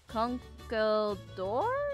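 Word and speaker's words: Conkeldurr: do you think uh conkle door it's how you say the Pokemon it's been a while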